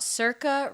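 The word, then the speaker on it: Sorcha: long time wow and I am talking about Circa Richardson's uh album called smiling like an idiot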